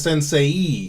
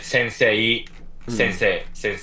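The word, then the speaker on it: 先生: You would read it as sensei because you see e, so you're like, oh, so that's read as sensei, but it's not. It's sensei.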